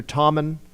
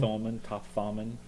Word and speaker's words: Thoman: So and my last name is Thoman, which is spelled Thomas, but with an N instead. So it's always Mr. Tommen. They don't think to pronounce the O in the long O. Thoman.